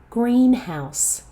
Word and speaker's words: greenhouse: Neutral greenhouse. Another compound noun. Check your e vow in the first syllable. It's not grin, it's green.